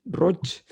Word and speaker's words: Roig: sí, que Tiene el hay, mismo mecanismo, es R-O-I-G, se dice Roch como si sí, acabara en CH.